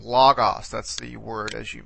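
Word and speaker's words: λόγος: Here you see, in this case, this particular word has an accent on the penultimate syllable, this omicron, logos.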